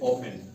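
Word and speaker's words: often: उसके बाद ओ एफ टी इ एन ओफेन।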